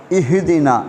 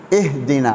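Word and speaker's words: اهدنا: இதுல சில தவறுகள் நடக்கிறது ஒன்று இஹ்தினா என்கிற வார்த்தையை சில ஆட்கள் கல்கல முறையிலே ஓதுவார்கள் அதாவது இஹ்தினா என்று பழைய ஆட்கள் பெரும்பாலும் அப்படி ஓதப்படுவது ஒன்று ஆனால் அங்கே கல்கலா கிடையாது அது பெரிய தவறு அல்ல என்றாலும் அதை நாங்கள் தவறித்துக் கொள்ள வேண்டும் இஹ்தினா எப்படி சொல்ல வேண்டும் இஹ்தினா அது ஹாவும் அல்ல அது ஹா எனவே சிராத்தல் சிராத்தல் இங்க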